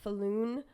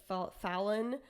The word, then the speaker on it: Pat Falloon: A player named Pat Falloon, or Fallon. I don't know. It's spelled Falloon.